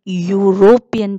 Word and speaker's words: European: the reason behind that so when we are pronouncing european children so the y letter comes european so european if you